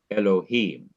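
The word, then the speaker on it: אלהים: In each of these three words in the beginning of the Bible, the last syllable of each word is to be stressed. Bereshith, bara, Elohim.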